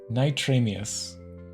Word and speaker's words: NitramiuZ: It comes from if you take in reverse and then you add a IS. That's where it comes from. Okay. NitramiuZ.